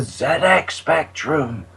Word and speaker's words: ZX Spectrum: know you want to just think of pul fiction Zed's Dead baby Zed's Dead it's the Zed X Spectrum I'm going to go